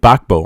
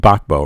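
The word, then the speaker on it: Gbagbo: Bakbo, I'm sorry. That's how you pronounce his name. Bakbo, right?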